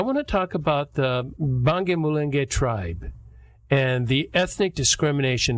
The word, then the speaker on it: Banyamulenge: Am I pronouncing that right? Banyamulenge? Banyamulenge.